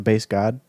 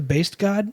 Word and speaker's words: Based God: The based god? Yeah. Oh, like the turkey based. As in, that's how it's spelled. BASTED? BASED. Oh. Based.